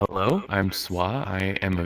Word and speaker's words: Swa: Definitely gonna have to go with SWA just because people have a better time pronouncing it Swa. It's actually a play off of my real name.